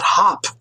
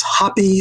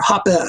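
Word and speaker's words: Hoppe: criticism mine occurs and it's not hop its hoppy or hapa that's how he pronounces his name but that's just a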